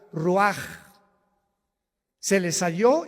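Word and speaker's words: רוח: Se pronuncia la ch en hebreo como J. Ruaj, se le salió y se traduce espíritu.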